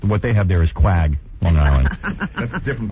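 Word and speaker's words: Quogue: Quag. Quag? Quag. Yeah. You spell it Q-U-A-G? That's misspelling. Spelling. Yeah, these guys screw me up every day. It's Q-U-O-G-U-E, isn't it? Yeah, that would be Quag. Right.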